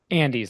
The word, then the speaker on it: Andes: Andes, like the mountains.